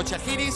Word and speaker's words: Schajris: ¿Es Chagris o Chagris o cómo es?